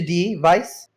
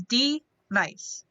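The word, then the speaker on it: D-Nice: nice to meet you dee vice uh is that am i pronouncing that correctly correct my name is d nice well uh how can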